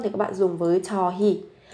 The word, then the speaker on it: 저희: Còn khi mà các bạn muốn thể hiện cái sự khiêm tốn hơn thì các bạn dùng với 저희. Viết là hơi nhưng mà phát âm là hi.